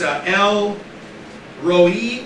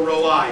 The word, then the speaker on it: El Roi: It's El Roi or Roi, depending on how you want to pronounce it. You pronounce both ways.